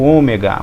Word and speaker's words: Ômega: letra que é o ômega o ômega ele tem o som do Ó como com um acento circunflexo Ômega Ômega tá até aqui na